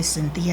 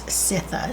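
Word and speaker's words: Citha: it's how it's pronounced i'm always tempted to say cynthia hazel but it's sitha c-i-t-h-a as i'm cleaning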